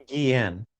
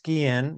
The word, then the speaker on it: Guillén: you again the pronunciation, the correct, not the Anglicized version, but the correct pronunciation of your last name, once again is Guillén. It is Guillén. So, it's like the Yeah, it's Guillén. You said it perfectly, Richard